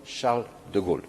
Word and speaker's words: Charles de Gaulle: Y es lo que se ha decidido mandando el portaavión Charles de Gaulle, así se pronuncia.